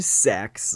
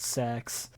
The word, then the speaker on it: CeX: For context, it is spelled CEX. It's like electronic exchange, but I don't know why they call it Sex.